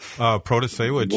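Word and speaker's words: Protasiewicz: Well, Protasewicz, I got to say it right there. Protasewicz.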